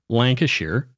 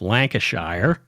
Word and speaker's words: Lancashire: But so the Brits have different ways of pronouncing, Lancashire instead of Lancashire.